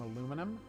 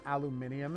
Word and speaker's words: aluminum: me where there's some aluminum or aluminium if you prefer to pronounce things incorrectly that makes perfect sense